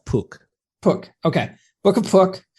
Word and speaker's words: Pook: How do you pronounce that? I pronounce it as Pook.